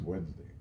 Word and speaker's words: Wednesday: Tomorrow is Wednesday, but it's not really pronounced the way it's spelled. If that was the case, then it would be Wednesday. Wednesday, not Wednesday. It would be Wednesday because you got a D in there, right?